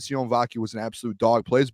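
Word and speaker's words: Sione Vaki: day they don't just it's cion vaki by the way too is how you pronounce it you don't like you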